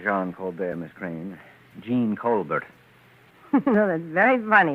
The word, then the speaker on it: Jean: e a n and how do you pronounce that in english gene hey why do you